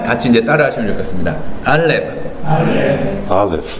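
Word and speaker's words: אלף: 알렙. 근데 알렙 하고서 우리말에서는 이게 받침으로 가지만 굳이 하자면 이 F 발음처럼 알렙 이렇게 된다는 걸 보시면 되겠고요.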